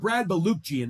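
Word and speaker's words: Brad Balukjian: But Brad Baluchian is how you say his name.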